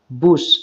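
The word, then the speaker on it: bush: ঠিক আছে, তাহলে হোয়াই আর you beating the বুশ, এখানে বাস বলবে না, বুশ তাই বলবে।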